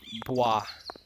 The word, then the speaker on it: Bwah: Bwah. Yeah, you saw it in the intro. It's spelled B-W-A-H.